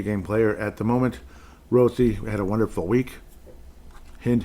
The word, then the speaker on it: Rossi: Minnesota Wild Rossy rosi I guess they'll say Rossy but you know it's pronounced rosi fa's at a half